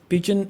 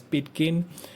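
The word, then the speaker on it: pidgin: The topic is Pigeon and Creole. Now you heard it right, I have not pronounced the word as Pidgen because it is pronounced as Pigeon and the other one is Creole.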